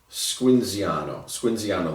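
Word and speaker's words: Squinzano: You pronounce it Squinziano, the town of Squinziano, which is where this comes from.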